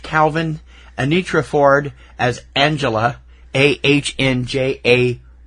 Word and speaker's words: Angela: AHNJAYLA. Angela. Angela is how they pronounced it throughout the movie.